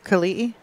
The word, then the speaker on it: Kelii: Yeah, apparently the name is Kelii. Is that correct? Kelii? Okay. Kelii. That both I's are pronounced.